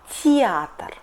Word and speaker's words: театр: For example, театр . We write it театр but pronunciate .